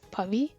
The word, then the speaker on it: Pavi: I go by Pavi, and the right way to pronounce it is Pavi.